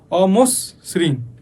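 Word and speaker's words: অমসৃণ: কম হসন্ত আসছে যেমন অমশ্রৃণ আমরা উচ্চারণে কি করতেছি দেখ অস একটু কিন্তু বিরতি দিচ্ছি অমস্রিণ তারপর হচ্ছে লোকনৃত্য একটু কিন্তু চাপ পড়তেছে।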